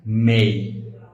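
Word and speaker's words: may: এই এই এবং ওয়াই এর উচ্চারণটা হবে এই। যেমন ডি এই ওয়াই, ডে হবে না, এটা কিন্তু হবে ডে। এম এই ওয়াই, মে না, সঠিক উচ্চারণ হবে মেই।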